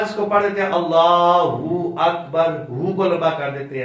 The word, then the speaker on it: اللہ اکبر: کا درست تلفظ ہے اللہ اکبر۔ میں ایک مرتبہ پڑھتا ہوں، آپ نے دہرانا ہے اس کو، صرف لام کو لمبا کرنا ہے اور کسی لفظ کو لمبا نہیں کرنا، اللہ اکبر اللہ اکبر۔ اب اس میں غلطی کون کرتا ہے؟